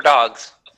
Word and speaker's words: Deux: We just have a Blink-180 Do, a tribute to Blink-182. Boy, let me tell you, that's not a mouthful. It's spelled Deux.